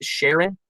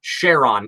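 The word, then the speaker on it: Charon: by the way I'm pretty sure the name is pronounced Sharon no no it's c h r o n Sheron it's a one of the gas giants moons it's not the name Sharon um I understand the confusion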